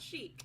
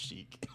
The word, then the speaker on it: Chic: don't all work Chic is the name of her fashion line mhm not Chic yep CH but it's pronounced Chic I just great I